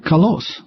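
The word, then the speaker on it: καλός: And some are born with an accent on their ultima, like kalos.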